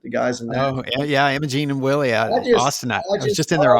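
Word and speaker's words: Imogene + Willie: a gene and Willie is that how you pronounce it the guys oh yeah yeah Imogene and Willie Austin he's just in their Austin story that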